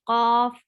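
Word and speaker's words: قاف: So this is very important to know, and that the right place to pronounce cough is root of the tongue touching the soft part of upper palate.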